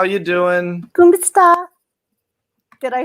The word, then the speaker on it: Kumusta: Kumusta?